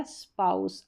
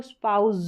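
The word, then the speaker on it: spouse: स्पाउस। अब यहां पर भी एस है। एस से पहले वोवेल साउंड है। तो इसको हमको स्पाउज पढ़ना चाहिए यहां पर।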